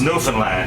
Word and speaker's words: Newfoundland: India is beer and it's pronounced Newland just like the dog there Newland is the